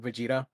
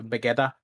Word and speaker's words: Vegeta: mispronounce uh the word vegeta uh for the longest time i pronounce it as uh begetta because um that's how they say it in the spanish dub i i should i